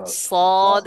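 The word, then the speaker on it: صاد: হরফটির নাম কি দেখেন সোদ বলতে হবে সুয়াদ বলা যাবে না কিন্তু আপনার একটা জিনিস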